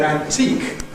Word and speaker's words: antique: scale, is the word antique. And the issue there again is the same. We all agree that the main stress is on teak, but is there a secondary stress on an or not?